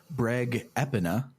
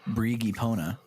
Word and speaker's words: Breg Epona: so let's listen to the breg epona not the brigi pona as i thought it was going to be pronounced i will never